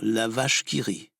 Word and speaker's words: La vache qui rit: foxtrot patriotique finement intitulé l'avare kiri allusion au célèbre walkyrie de richard wagner qui était alors un méchant puisque amant est prononcée à la française ça se dit évidemment la vache qui rit encore une histoire franco